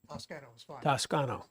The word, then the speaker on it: Toscano: for Toscano please please correct me on the pronunciation of your name Tas tsano yes thank you apologies if there was a